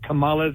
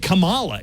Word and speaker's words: Kamala: the best way to remember how to say kamala's no no no you're putting me in F on the wrong say it he also said it wrong yeah he said Kamala it's Kamala it's Kamala do you notice how